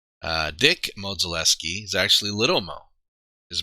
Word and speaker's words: Modzelewski: So yeah, the Modzeleskis. Dick Modzelewski is actually Little Mo. His brother, I believe it's Ed, is Big Mo. And it's Mo, not Mod.